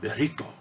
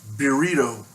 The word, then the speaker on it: Beerito: bugger right here called Beerito. And I'm going to say that like a gringo because that's probably written by a gringo. It's not Beerito, it's Beerito. Mexican lager, brewed and canned by Oskar Blues.